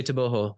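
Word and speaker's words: Tebogo: of endless controversy because the G objectively if you know in the states is the hard G but you know in batwan I suppose it is the soft hu so I say toboo out of respect to the culture but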